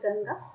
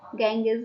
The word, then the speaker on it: Ganges: The Himalayas, the Ganges River, In English, pronunciation is not Ganga, Ganges we can say.